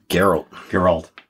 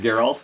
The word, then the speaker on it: Geralt: Geralt. Geralt. Yeah. Geralt. We don't even know. See, no, we don't know. What do they say in the show? Isn't it Geralt?